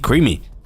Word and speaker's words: Creamy: Not Krazy, Creamy. I read that name wrong.